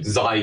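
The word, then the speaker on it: ξ: Chi square diye düşünmeyin. Xi diye okunuyor.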